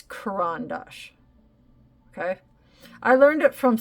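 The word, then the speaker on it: Caran d'Ache: this book the CR and it's corand Dash not karandash I know so many people that some who should know better pronouncing it karandash and it's karandash okay I'm just throwing that out there I'm not trying to you know put the the uh shame on anybody it's Kuran Dash Okay I learned it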